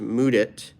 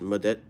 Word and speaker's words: Mudit: your name sudip sudip my name's pronounced mudit uh at least the way I prefer it to be pronounced and then in traditional South Asian circles it's also pronounced mudet uh so you can do the latter if you're able to pronounce the latter correctly if not then stick with mudit homies um anyways I